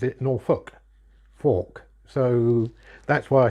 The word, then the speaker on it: Norfolk: as in folk Norfolk but everybody around here pronounces it Norfolk Fork so that's why I spelled it with an